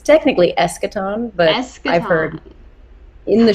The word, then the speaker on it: Eschaton: it's it's it's like how you want to pronounce it it's technically eschaton but i've heard in the show i've heard